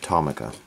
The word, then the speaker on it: Tomica: people call it tamama some people call it Tama I think it's probably pronounced tamaa but through bad habits I've and calling it Toma I hear a lot of other collectors calling it Tama so I'm trying to adjust